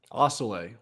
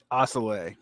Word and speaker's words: Assele: I'm with uh Julian Osceola Osceola yeah I think I've always mispronounced it to sell it like it was Spanish but as you corrected me it's French gone and so um